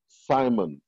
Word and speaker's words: salmon: सो some fish specially साइमन, ये एल है इसमें, SALMON, लेकिन ये इसको एल जो है ये समझ लें साइलेंट बोलते हैं, और इसको साइमन, साइमन are being kept in जगनेटिक pens and fade very heavily.